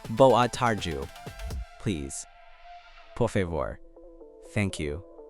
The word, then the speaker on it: Boa tarde: Boa tarde. Pronounced boa tarju.